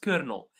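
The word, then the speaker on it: colonel: So, this word is pronounced kernel, and it's one of the most like unusual words in English, which is completely different like the pronunciation is completely different from like the pronunciation. It's it's a very strange word.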